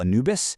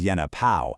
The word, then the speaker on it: Anubis: And the god we all call Anubis, he was actually known as Yenna Pao.